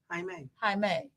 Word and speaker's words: Jaime: Jaime. He said, say hi and then to yourself, me. But it's Jaime. Like Kwame.